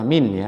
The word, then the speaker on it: mean: Yang pertama kita sudah mempelajari cara menentukan rata-rata atau namanya adalah min ya, tulisnya mean, bacanya min.